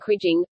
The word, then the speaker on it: kriging: The English verb is to krige and the most common noun is kriging; both are often pronounced with a hard "g", following the pronunciation of the name "Krige".